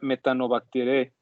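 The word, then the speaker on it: Methanobacteriaceae: Si ustedes pronuncian bien estas dos letras que están aquí, suele pronunciarse como una E, pero no como la del español, sino una como un sonido como entre A y la E. Entonces sería Metanobacteriaceae, perteneciente al dominio Archaea.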